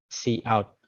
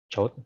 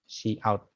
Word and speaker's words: cout: Yeah, so the cout is pronounced as yes, as I pronounce it cout. Okay, chout, yeah, but this pronounced like cout.